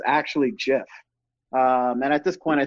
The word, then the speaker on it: GIF: on Twitter and said oh it's actually Jeff like the Jeff peanutbutter well and then this division kind of happened in the group chat where it was like who thinks it's actually Jeff and at this point